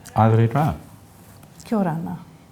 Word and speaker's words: aere rā: Well, it's airera, All right.